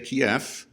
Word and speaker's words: Kyiv: Now I prefer to say Kyiv. Why? Because I was just taught that Kiev is the Russian pronunciation, Kyiv the Ukrainian pronunciation.